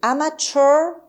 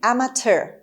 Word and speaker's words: amateur: هم میتونید بگید amateur، هم میتونید بگید amateur، یعنی ت و شوا بذارید براش. هر 2 تلفظ درست هست.